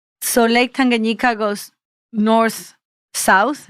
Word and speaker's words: Tanganyika: Tanganyika. Tanganyika, right.